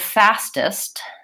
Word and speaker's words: fastest: last few minutes so the word fastest I hear fastest when native speakers say it it's very similar to honest fastest same thing with that est what we hear is what we're thinking about we're thinking about